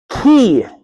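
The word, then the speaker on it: chi: Then we have key, okay? The X, okay? It's a key. The way we say ch in chemist, right?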